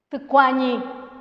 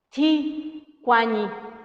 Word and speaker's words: tucuañi: Tucuañi. Otra vez ahí, si alguien lo pronuncia, diría Ticuañi. Y es tucuañi.